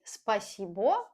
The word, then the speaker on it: спасибо: Again, we don't say спасибо.